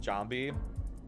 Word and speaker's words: Jambi: Or I guess Jambi it would be how that's pronounced. I'm pretty sure the A says ah in Indonesian.